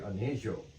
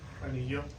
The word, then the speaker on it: Anejo: Anejo. Anejo? Yes. Yeah. It means Joe, it's not yo.